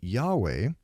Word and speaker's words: Yahweh: But in its second-to-last paragraph, the translation committee says, "While inclining to view the pronunciation Yahweh as the more correct way, we have retained the form Jehovah because of people's familiarity with it since the 14th century."